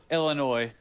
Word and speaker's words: Illinois: oh oh my bad yeah that's right I pronounced the yes huh Illinois my bad uh who's the uh we all